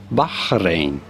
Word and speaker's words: Bahrain: say the name the name of this country in Arabic it is usually pronounced as bahin baharin I was actually maybe